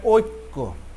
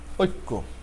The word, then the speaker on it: ঐক্য: কর উচ্চারণ প্রথমটা একটু জফলা যেহেতু আছে, এজন্য একটি জফলা থাকলে কয়ের উচ্চারণ দ্বিত্ব হয়ে যায়। সেখানে দেখুন ঐক্য বানানে ক হসন্ত দিয়ে কয় করে কো, ঐক্য।